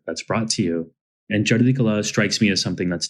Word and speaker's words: Chardi Kala: So Chardi Kala is, and nice pronunciation, by the way. Well done. It has a letter in there that most Americans have never heard before.